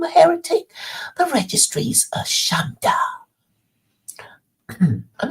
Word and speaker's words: shanda: The registry's a shanda. I'm not sure what that is. I'm going to look it up. What does shanda mean? Shonday. Shonday, it's pronounced.